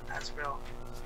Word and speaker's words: Azrael: What Azrael? Am I saying it right? Yes, you are.